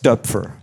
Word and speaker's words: Doepfer: Well, the correct uh pronunciation is Duber.